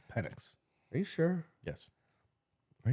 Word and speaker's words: Penix: But Penix, he could easily fall to the second round. It's Penix.